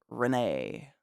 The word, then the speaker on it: Renee: It's on the second E, the middle E.